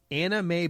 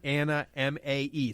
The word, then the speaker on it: Anna Mae: It's literally Anna, M-A-E. Spelled even M-A-E. Anna Mae. And it wasn't just Anna. Got like more syllables than you actually see in the word.